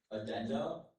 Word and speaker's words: addenda: Of course, addenda is the only pronunciation I have.